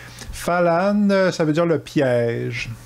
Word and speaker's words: Fällan: de 1975 qui s'appelle fallen c'est un film suédois à la base donc mon accent suédois il est à zéro c'est pas comment ça se prononce mais falan ça veut dire le